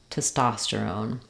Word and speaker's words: testosterone: That would sound like own, terone, gesterone, progesterone, or own, sterone, tosterone, testosterone.